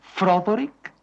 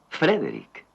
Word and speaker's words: Frederick: ¿Dice usted también Froderick? No, Frederick. ¿Y por qué no es Froderick Frankenstein? ¿Por qué no? Es Frederick Frankenstein.